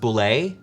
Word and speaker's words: Bulette: Bullet. Yeah. Bullet? Yeah. Yeah. Sorry. No. There's the person who created it says it's pronounced boulet, and no, I'm not gonna use that one.